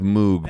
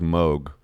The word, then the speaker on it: Moog: Well, it says Moog, or you think it says Moog, but it actually is pronounced Moog.